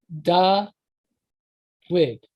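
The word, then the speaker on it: דָּוִד: So for David, it was da wid. So that's how so it would be spelled DUD, but it'd be pronounced da-wid.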